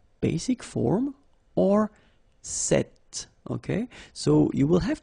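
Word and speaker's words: cet: it's quite interesting because if you listen carefully the masculine form here set and The Feminine form here set you you write them differently but then you pronounce them the same way all right for the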